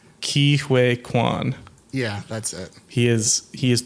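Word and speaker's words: Ke Huy Quan: I tried to look up how to pronounce it. I looked up a YouTube video. I think it's Key Wake Quan.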